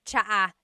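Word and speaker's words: tsa: And it's spelled T S A. Cha. Cha. That's such a Tagalog spelling. I love it. There's the ts sound and then the double vowel uh pronunciation.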